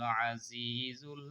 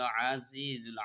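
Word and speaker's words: الْعَزِيزُ: আল মালিকুল কুদ্দুসুস সালামুল Mominul Muhaiminul আজিজুল Jabbarul মুতাকাব্বির।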